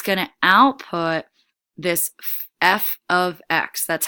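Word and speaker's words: f(x): it's 5x plus 1 it's gonna output this f of X that's how that's pronounced it looks like F times X that's f of X which all it means is a function of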